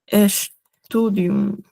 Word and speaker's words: Studium: Por ejemplo, tenemos ya muchos dirían, o sea, pensarían que se lee Studium, pero en verdad la ST se pronuncia como una sh das studium.